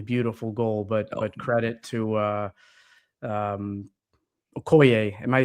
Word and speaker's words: Okoye: be an absolutely beautiful goal, but credit to Okoye. Am I pronouncing that correctly?